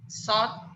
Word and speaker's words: sought: How do you pronounce it now? Sought.